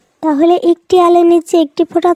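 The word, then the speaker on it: ت: হ্যাঁ ছোট্ট বন্ধুরা, এটা হলো তা। জিহ্বার আগাটাকে আমরা সামনের উপরের দুই দাঁতের গোড়ার সাথে লাগাবো। এই ছবিটার দিকে একটু লক্ষ্য করো বন্ধুরা, দেখো ঠিক এভাবেই তায়ের উচ্চারণ আমরা করব।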